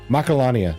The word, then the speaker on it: Macalania: Macalania.